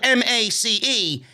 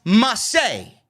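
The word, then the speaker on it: Ma.çé: comes mace they renamed him it's still spelled m-a-c-e but it's not pronounced mace it's pronounced massey so we have marseille come out he's wearing this button-down fancy floral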